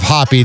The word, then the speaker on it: Hoppe: have to type in my name as Hoppy because it says Hoppe if it's Hoppe. Which is one of the most annoying things that my last name doesn't register as Hoppe with the pronunciation of Hoppy to like AI.